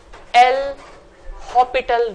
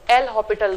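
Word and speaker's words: l'Hôpital: का नाम होता है एल हॉपिटल rule. S silent है, ठीक है। This is एल हॉपिटल rule, जिसे मैंने लास्ट ईयर सिखाया था, बताया था, आप लोग भूल गए हैं।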